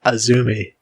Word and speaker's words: AZM: talent we have azumi it is spelt azm but it is pronounced azumi i know you're going